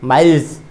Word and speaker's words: miles: इसका उच्चारण माइल्स भी कर सकते हैं। इसका उच्चारण स करके ज, माइल्स।